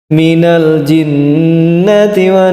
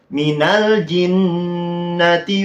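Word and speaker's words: مِنَ الْجِنَّةِ: tergesa-gesa ini kita lanjutkan Minal jinti nah di ayat keen itu loh Minal jinnati was harusnya yang jinah itu betul Bang Heri Pras didengungkan terlebih dahulu tapi yang terakhir kok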